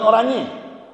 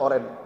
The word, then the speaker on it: Orange: Bukan Orangi. Orangi beda, itu Belanda. Van Basten nama Garut Gulit, udah pulang kampung ya? Ya. Orangi dibacanya Ustadz Oren.